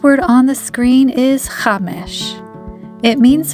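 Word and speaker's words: חמש: The first word on the screen is chamesh. It means 5 in Hebrew. Now you try to say it. Chamesh.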